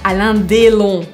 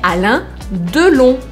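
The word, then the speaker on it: Alain Delon: a dom a onu não é allan dellon é anã dolo lembra que o uma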